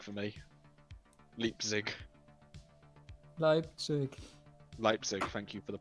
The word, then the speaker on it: Leipzig: you can you wake up and go to lip sync for me leap leipzig thank you for the pronunciation would you like to go to leipzig